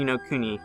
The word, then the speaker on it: no Kuni: So the first game on my list is No Kuni, and that's the pronunciation for those of you that don't know, as it says so in the Japanese trailer.